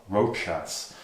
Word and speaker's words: Rochas: Oh, Rochas. It's a bit hard to pronounce.